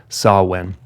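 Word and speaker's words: Samhain: ancient Celtic Festival called sawwin and sawwind is spelled like Sam Hayne s-a-m-h-a-i-n but it's pronounced saw when sawin was a festival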